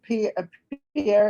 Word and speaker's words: Pierre: So Pierre is where you will be going when you move? Pier. Oh, Pierre. I know exactly how it's spelled, but we don't say it that way. Okay, Pier, yes.